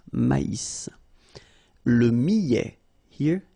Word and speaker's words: millet: L'avoine, le blé, le maïs, le millet.